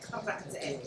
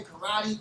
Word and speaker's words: karate: Because if you go to Okinawa and you say karate the way Americans say karate, they're gonna look at you like this. You learn something new every day. So you have to so you have to roll that R.